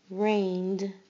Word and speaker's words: rained: Rained. Rained. You only hear the d sound at the end.